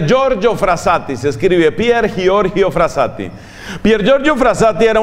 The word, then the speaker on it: Giorgio: se oye pierre giorgio que en italia no se presente se pronuncia giorgio giorgio pier giorgio frassati con